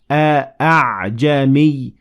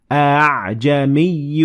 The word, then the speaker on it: أعجمي: to tell us that this alif is less heavily pronounced. So instead of saying a'jami, you're going to make it less heavily pronounced and you would say أعجمي وعربي.